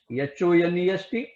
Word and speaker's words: honest: Here words begin with H, consonant, but in pronunciation the H is silent.